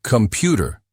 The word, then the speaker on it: Computer: Computer, stress on the second syllable.